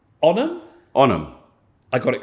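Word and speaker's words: Onam: that's I I I'm terrible at pronouncing so it's spelled o n a m onum onum I got it correct I got the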